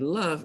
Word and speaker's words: love: The vowel sound in the word love is actually short U, as in cut, under, or us.